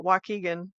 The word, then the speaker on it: Waukegan: How do they say it odd too, I'm sure. Waukegan? Yeah. That's how they say it. I don't know. Waukegan.